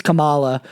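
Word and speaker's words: Kamala: For me, I think he passed a vibe check compared to like Joe, like Camela Hurst. Like, of course, it's Camala. Can't ever get the name pronunciation right because these people are right?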